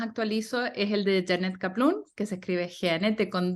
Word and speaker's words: Kaplun: es el de Janet kaplum que se escribe jennete con dos n y dos t que todo el mundo se ríe y caplum como cataplum en la manera más fácil